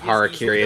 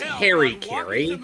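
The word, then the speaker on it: hara-kiri: the better pronunciation of harakiri as opposed to the Japanese Metal Gear Solid game he took battles both ferocious dragon you know what they pronounce it as they pronounce it as Harry Caray because he's such a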